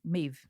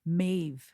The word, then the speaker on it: Maeve: Maeve. Yeah. I always feel weird saying the E at the end. Maeve.